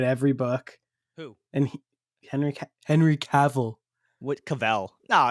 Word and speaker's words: Cavill: I said Cavill. It's not Cavell, it's Cavill.